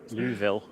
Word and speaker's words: Louisville: Louisville. You don't pronounce the S.